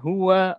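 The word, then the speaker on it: هو: Dalam bahasa Arab, "hua" tetaplah "hua". Sejak awal bahasa Arab hingga akhir zaman, kata itu akan selalu diucapkan "hua".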